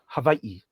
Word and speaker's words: Hawaii: In the Chuamotus, the main island there, Havi. And then up north what we call Hawaii properly pronounced havi.